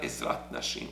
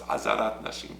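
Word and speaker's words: עזרת נשים: There's Azarat Yisrael, where well, it's not Ezrat Nashim, it's Azarat Nashim, please, Dachila. The people who are pronouncing it Ezrat Nashim, can you please pronounce it correctly? It's the Azarat. So it's Azarat Nashim, Azarat Yisrael.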